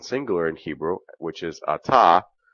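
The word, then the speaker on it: אתה: in Hebrew which is Atta ATA Rhymes withalta you can see how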